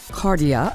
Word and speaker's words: Cardia: and happy to welcome to the show Julie cardia I'm pronouncing that correctly who is yes you are